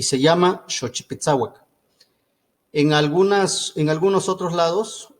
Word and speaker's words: Xochipitsawak: Entonces se forma la palabra completa, xochipitzauac, así se pronuncia. Si nos están escuchando podemos decir xochipitzauac.